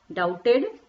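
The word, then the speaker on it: doubted: कितना मतलब डेविड कि डॉक्टर में बेटा बीच साइलेंट होता है राइट करते हैं बटर हम उसको प्रनंसीएशन वहीं डू इट ठीक है डाउटेड एक ही कोड एक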